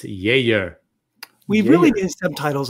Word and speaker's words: Geijer: It's spelled Geijer. That's correct. Correct. You'd think it'd be Geijer. You'd think but it would. it's- You'd think, but no, it's Geijer.